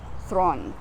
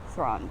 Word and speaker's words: Theron: she's South African folks Charlize Theron is thrawn thrawn that's the pronunciation Charlize thron um it's totally South